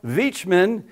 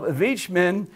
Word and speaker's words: Wichmann: And so this man called Adolf Wichmann, it's pronounced with a V, but in English it's a W. Adolf Wichmann, who is a member